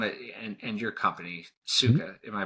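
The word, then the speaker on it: Sukha: How and because I really want to and and your company suga am I pronouncing that correctly?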